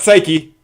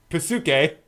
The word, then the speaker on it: Psyche: Not Psyche. Pasuke.